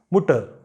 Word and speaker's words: Mutter: Mother is Mutter. Mutter. So here also R is appearing in the end, so you don't pronounce it.